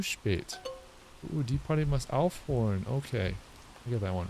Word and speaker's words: aufhören: Oh, there's an accent on the O in Aufhorn. Okay. Das Konzert muss aufhören, es schneit.